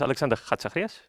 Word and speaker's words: Alexander Chatzizacharias: So it's Alexander Chatzizacharias.